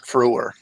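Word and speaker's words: Frewer: fo what was his last name how he pronounced his last name matt froore phew thank you yeah he played max hadron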